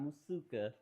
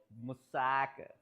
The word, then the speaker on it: moussaka: Uh, otherwise, I'll just eat the the musaka. Musaka, not musuka, musaka.